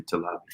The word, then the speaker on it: Talabi: I forgot how to pronounce it. It's Talabi.